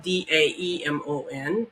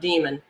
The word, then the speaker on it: Damon: he explains is that's spelled D a m o n not demon Damon a Damon is um